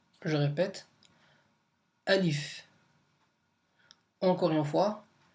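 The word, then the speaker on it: ألف: ça s'écrit comme ça voilà donc ça se prononce Alif je répète Alif encore une fois Alif on va refaire donc on va récrire la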